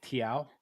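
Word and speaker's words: Thiaw: Malik Tia as he says that his name is pronounced and Jacob Ramsey.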